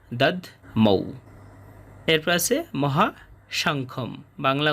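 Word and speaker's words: দধ্মৌ: এরপর আছে দাদ মৌ এখানে ধ এর উচ্চারণটা অর্ধেক হবে দাদ মৌ এরপর আছে মহাশংখম বাংলা উচ্চারণের মতোই শেষে অনুসার কারণে অর্ধেক ম হবে।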